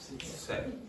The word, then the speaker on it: said: Well, yes, you said smiled. Okay, keep going. He smiled. Modestly and said, everything here is cooked with love. Yes, everything here is cooked with love. Now say that word for me. Said.